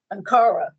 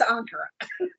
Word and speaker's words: Ankara: She goes, Ankara. It's Ankara. Ankara.